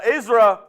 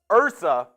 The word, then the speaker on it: Ursa: 100% recommend that uh isra you're in my name is pronounced Ursa oh not oh wow I totally was misreading that zza Raiders fan since